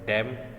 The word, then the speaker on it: DEM: Digital elevation model को हम short term में डैम या DEM भी प्रोनाउंस कर सकते हैं।